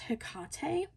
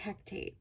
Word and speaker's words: Hecate: I believe this is pronounced Hecate, but a lot of people say Hectate.